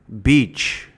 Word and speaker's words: beach: Beach, beach. Or it's like the letter B, and then the word each. Each, beach.